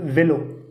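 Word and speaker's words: vélo: அடுத்த எக்ஸாம்பிள் வெலோ, அதாவது சைக்கிள், வேலோ. அப்புறங்க ஈ மேலே அக்ஸான் தேகி வரும்போது ஏ அப்படின்னு ப்ரொனவுன்ஸ் பண்ணுது, ஆ வேலோ.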